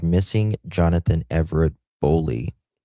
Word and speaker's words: Boley: Am I pronouncing that right? That's how I've been saying it. A Bowley, maybe? Let me make sure. I hate mispronouncing something. Missing Johnathan Everett Boley discussion. Boley. Yeah. Okay, we're pronouncing it right. Boley.